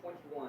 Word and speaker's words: 2NE1: The last group spells their name 2NE1, pronounced 21 or 20.